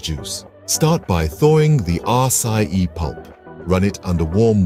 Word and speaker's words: Açaí: So how do you properly pronounce it? It's our Tropical Bliss Açaí smoothie.